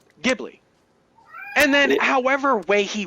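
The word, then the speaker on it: Ghibli: respect it as they grew up in America with it get jibli and for those who have lived their entire life either in Japan or about Japan or what have you or only see anything from Studio whichever as only from miazaki and Japan therefore whatever he says goes then it is gibli and then however way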